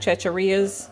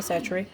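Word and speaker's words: Chachere's: is tony cesare's and no it's not chacharias for everybody that mispronounces it is tony satchery or tony cheshire but you can use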